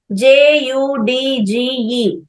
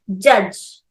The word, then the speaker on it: judge: In the same way, JUDGE. Here, J, A, J. Here, J sound is pronounced as same J sound, J. U sound as A. DGE sound completely as J. J, A, J. Judge.